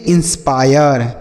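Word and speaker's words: inspire: एन एस पी आई आर ई इसे पढ़ेंगे इंस्पायर क्या पढ़ेंगे इंस्पायर ठीक है मेरे भाई इंस्पायर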